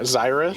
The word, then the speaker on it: Zyrith: How do I pronounce it again? Because I forget. Yeah, Zyrith.